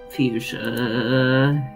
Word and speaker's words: fuchsia: Fuchsia, you're driving me actually insane. I love fuchsia. It's a good color. True. Am I the only one who thinks that's pronounced fuchsia? Correct.